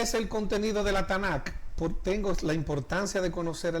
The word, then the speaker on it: Tanakh: Es una T más N más K. Tanakh. Hay la cultura occidental y la europea la han asumido con estas vocales para que sea fácil pronunciar y recordar. Entonces, para no decir TNK, sino la Tanakh, es ese Antiguo Testamento.